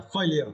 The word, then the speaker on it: failure: Yeah, failure. But according to American pronunciation, right? You should pronounce failure. Yeah, and you need to stress the first syllable.